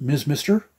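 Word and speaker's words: Mr. Mister: I believe they are pronounced Ms. Mister.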